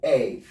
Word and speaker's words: pneumonia: Like we have this word, Pneumonia. The word is pronounced pneumonia. Pneumonia, not pneumonia. Pneumonia. Pneumonia. Pneumonia. Please take note. The P there is going to be silent.